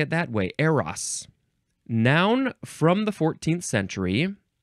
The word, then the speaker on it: Eros: hm I always said Aeros but uh it's saying technically appropriately correctly that it's AAS or IRAs I guess that's the better Greek pronunciation so let's try to say it that way AOS noun from The 14th